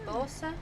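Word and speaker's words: Urbosa: The champion that goes alongside Nibiru's is Lady Abosa. Did I pronounce that right?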